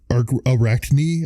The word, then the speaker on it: Arachne: the Greek myth of AR Arachne I think that's how you say it a r a c h n e so say it